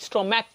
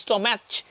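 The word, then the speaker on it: stomach: স্ট্রম্যাক ক, নট স্ট্রম্যাচ, এই জন্য শুধু এস যোগে কী হয়েছে?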